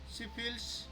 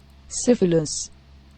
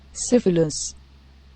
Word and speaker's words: syphilis: तो ये सिफिलिस है, मैंने इसको सिफिल्स बोला, तो इस तरह की दिक्कत आ सकती है, राइट। तो मैंने क्या किया, गूगल ट्रांसलेट में इसे देखा, तो इसकी प्रोनाउंसिएशन सुनिए, syphilis, syphilis, राइट।